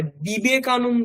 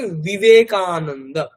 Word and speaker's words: বিবেকানন্দ: কিন্তু ওটা actually V উচ্চারণটা কেমন হবে? ওটা বর্গীয় হবে না। মানে বিবেকানন্দ হবে না। ওটাকে বিবেকানন্দ।